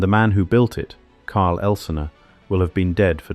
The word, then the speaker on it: Karl Elsener: This is the story of Karl Elsener, pronounced Karl Elsener, the son of a